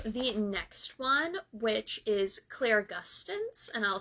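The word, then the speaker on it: clairgustance: So, let's go to the next one, which is Claire Gustins, and I'll spell it C L A I R G U S T A N C E.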